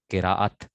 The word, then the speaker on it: قراءت: قراءت، کرا یا کراؤ، قراءتن مصدر ہے، قراءت. ٹھیک ہے نا. لوگ کہتے ہیں اس کی کرت بہت اچھی ہے. کرت نہیں ہوتا لفظ، قراءت لفظ ہوتا ہے.